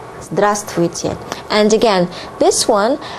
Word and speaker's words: здравствуйте: The most common way to greet people is здравствуйте. Здравствуйте. Okay? And please mind that you don't pronounce v here. This would be difficult even for native speakers. So it's just здравствуйте. Здравствуйте.